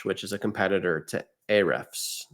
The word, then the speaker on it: Ahrefs: Then you also get the SEM Raj, which is a competitor to Ahrefs or Hrefs. They pronounce it differently, where you'll be able to look at rich keywords, topics, and things.